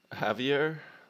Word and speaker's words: Javier: Welcome to the party, Javier. I think I pronounced that right. The J is like an H, right?